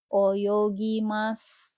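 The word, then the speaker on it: 泳ぎます: Oyogimas. Cara nulisnya oyogi masu dibacanya oyogimas.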